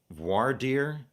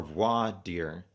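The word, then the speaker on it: voir dire: looked it up and there's two different ways to pronounce it V dear or V deer the basic definition is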